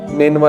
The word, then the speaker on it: Nineveh: نینوا اس کا تلفظ ہے NINEVEH.